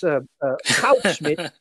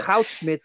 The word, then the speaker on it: Goudsmit: And so it, I can with great authority pronounce the names of the two people in, who introduced that. That's Goudsmit, yeah. Goudsmit and Uhlenbeck.